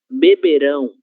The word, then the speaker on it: beberão: Se o verbo tiver essa terminação em ão, nós vamos fazer a leitura com a sílaba tônica ão. Beberão, beberão, diferente de beberam, OK?